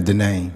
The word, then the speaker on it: Denain: thank you very well how do you pronounce your first name my first name is denain denain okay denain Pard thank